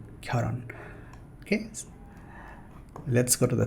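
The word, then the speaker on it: 결혼: Many beginner level learners will pronounce it like kyolhon, right? But this is not kyolhon. As we can see here, it's pronounced like kyoron.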